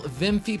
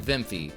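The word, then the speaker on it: Wiimmfi: Also enable vimfy patch v before and yes I said vimfy as according to the internet that is how it is pronounced. This vimfy patch will allow online play to be enabled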